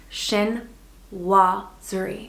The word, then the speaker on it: chinoiserie: So say it with me, shin-waa-zuh-ree. And fun fact, this word actually did not originate in China, but in France.